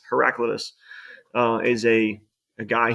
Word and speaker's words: Heraclitus: speech and some people he pronounces it herac Cletus it's heraclitus uh is a a